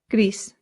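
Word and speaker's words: gris: This sounds just like the English word grease, like the grease from a pan or like oil. Grease. But in Spanish, you have to slightly round that R.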